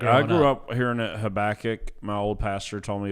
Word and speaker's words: Habakkuk: of different ways and we're going to say it the right way habach yeah habach not habac yeah and I don't